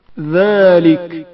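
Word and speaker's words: ذٰلِكَ: ذالک زال کی آواز باریک تلفظ ہوتی ہے.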